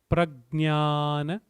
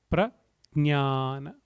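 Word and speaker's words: प्रज्ञान: So I would rather say, for pronunciation purpose, replace the J with a G.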